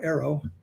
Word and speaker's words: AARO: The other thing is, when she makes a statement like that about AARO, that's how we pronounce the acronym now, AARO, that statement may be true, that they have